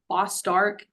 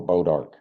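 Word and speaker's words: bois d'arc: And I might mispronounce this, but does the combination control Boss Dark and Greenbrier? Oh, Bodark.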